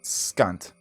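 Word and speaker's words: Skant: Like, Scant. Like scant.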